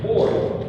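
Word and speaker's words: אור: But Aleph is a silent letter, so it's pronounced Or.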